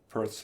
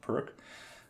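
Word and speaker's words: Pirc: like the Caro-Kann or Perth's defense, or I suppose it's usually pronounced Perk, or the French defense,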